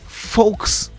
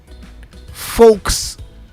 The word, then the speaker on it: Volkswagen: I'm saying Volkswagen. Okay, so it's true that the W is pronounced as a V, right? But apparently the V is pronounced as an F.